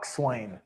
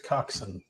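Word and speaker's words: coxswain: oh yeah definitely 100% the Swain there we go I don't think that's how you pronounce it you call me I think it's coxen that's probably more correct yes I yeah we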